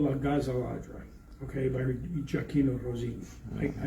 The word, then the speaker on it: La Gazza Ladra: He says, Karahalis, he says, your pronunciation's pretty good, but La Gazza Ladra, you're saying it wrong. He says, you got to emphasize the Gazza, right?